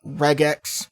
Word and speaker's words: regex: with something called uh regex i've also heard it pronounced as regex but regex makes more sense to me considering it stands for regular expressions now a regular expression